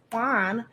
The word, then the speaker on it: Le'Qoinne: guest with me today, Mr. Laquan Rice. That's your name, right? You said it right.